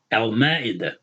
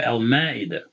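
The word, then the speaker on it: المائدة: When you have Al in front of it, you pronounce that L and then you pronounce the letter. We said Meme, right? Al-Ma'idah, right? The Surah Al-Ma'idah, okay? Al-Ma'idah. So the Meme, the M sound, can be pronounced behind the L, behind the Lam.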